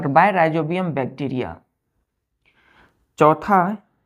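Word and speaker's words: Rhizobium: होते हैं तो बाय राइजोबियम बैक्टीरिया चौथा स्पेलिंग देखिए आर एच आई जड ओ बी आई यू एम राइजोबियम bacteria चौथा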